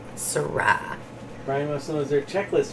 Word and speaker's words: Syrah: gonna get loud guys lewis wayne said accent at the second syllable it's a variety of wine that's right i know i now i remember syrah brian must know their